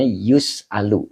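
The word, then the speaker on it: يُسْأَلُ: Ya, kalau fi'il mudhorim majhul dibacanya yus'alu domah awalnya ee fathah ain fi'ilnya. He eh.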